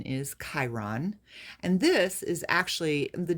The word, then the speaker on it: Chiron: Um, it looks like it's pronounced Chiron, Chiron, Chiron, but the actual pronunciation is Chiron.